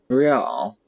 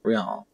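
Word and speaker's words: réal: you owe me 130 real he pronounces the r with a mock aristocratic accent encyclopedia trio success the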